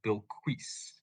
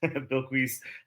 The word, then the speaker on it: Bilquis: I could very well be wrong, but I think it's supposed to be Bilquis.